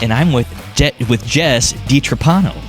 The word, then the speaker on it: DiTrapano: Upstate New York and I'm with with Jess d trapano right did did I say it correctly yes